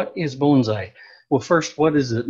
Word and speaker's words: bonsai: a very sheltered area bonsai is pronounced bone as in give a dog a bone and sigh as what you might